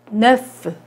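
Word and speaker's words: neuf: 9는 네프. 9도 역시 발음이 되죠.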